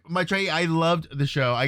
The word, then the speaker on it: Maitreyi: thank you for asking really appreciate that it's my trainee that's awesome I'm like my trainee I loved the show I got a chance